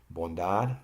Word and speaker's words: bondad: Bondad, the accent is on DAD.